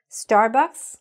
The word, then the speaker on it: Starbucks: You should hear the S at the end. All right? So that's what was wrong here. So all you have to do to fix the name of those particular restaurants, just make sure you're saying the S.